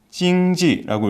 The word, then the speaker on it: 经济: 한자어는 한국식으로는 이제 경제라고 읽고 일본식으로는 게이자이라고 읽지만은 중국에서는 찡지라고 읽습니다.